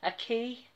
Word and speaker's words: acai: this is exotic acai I've forgotten how to pronounce it again I know everybody told me a key yes and this was sent to me by